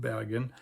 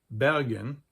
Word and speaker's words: Bergen: a basically non-Norwegian term, and it's pronounced like a standard German speaker would actually pronounce it. And then we have the Bavarian Bergen, which is also not surrounded by mountains, but it's right next to mountains.